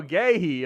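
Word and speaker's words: Guéhi: Gooey. Oh, gay. Okay, that's definitely not how I would think that would be spelled. How is that? How is that gayhei? Gu Ue H I is gay.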